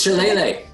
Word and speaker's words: Shillelagh: It's Shillelagh.